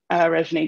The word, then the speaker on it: Reginé: I am Reginé. I also go by Regine. So some people will say, I'm saying your name wrong. You're not. I go by both. Reginé is my birth name.